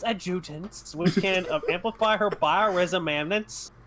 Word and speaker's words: adjutants: Adjustance. Which can believe. It's adjutants, which can amplify her bioresonance signals as well as produce their own.